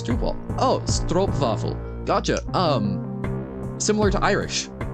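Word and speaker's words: stroopwafel: vowels that modify sounds if it was spelled with an OE it would be sto vaffle but it's not it's stro vaffle gotcha if you want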